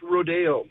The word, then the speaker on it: Rodeo: So my wife's last name is pronounced Rodeo, as in like Rodeo Drive. Yeah. But it's spelled Rodeo.